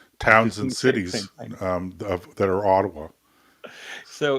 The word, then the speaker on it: Ottawa: pronounces Canada's nation's capital he calls it Otawa now look I think he's doing it tongue-in-cheek I think that Tucker's a smart guy and he could turn to a staffer and say how do you say this what's the pre correct pronunciation and somebody would say Ottawa and but so I